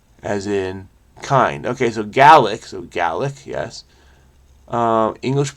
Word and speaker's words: Gaelic: G as in guy. A as in bad, or a as in bad. See, the bad is not universal. I say bad, but I have a feeling it's bad. So this is ga.